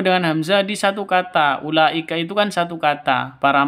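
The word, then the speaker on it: أولئك: sebagai tempatnya HAM Hamzah makanya Ula langsung ke la Ula bukan u salah yang betul Ul seperti itu ulika di sini ada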